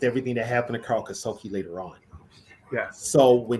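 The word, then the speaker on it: Karl Kassulke: He couldn't say his name, so he called him Kasuki. He couldn't say Kasulki.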